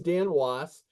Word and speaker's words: Dan Wos: yeah you're not the only the name is Dan was it's um you can find me a good